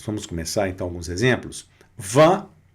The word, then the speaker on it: vin: O van. Van é vinho, não é? Tá aí. Van. Van. Observem. Sintam essa essa necessidade que dá da boca dar uma, né? E não vã. Não é vã. É v. Vá.